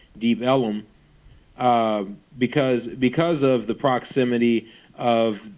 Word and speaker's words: Deep Ellum: The area was called Deep Ellum, or as early residents pronounced it, Deep Ellum, because of the proximity of the railroad.